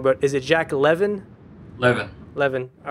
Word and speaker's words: Levin: Levin. All right. Just like Kevin with an L.